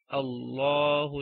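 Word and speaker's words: الله: For example, we are starting this ayah with the word Allah, okay, and we have a hamzatul wasl here, so we have to put a fatha and we say Allahu alladhi, okay, Allahu alladhi.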